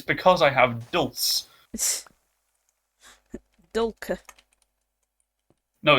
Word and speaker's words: Dulce: I can But get- it's Dulce, do like an actual duh. Yeah. You have to put the emphasis on the duh. Dulce.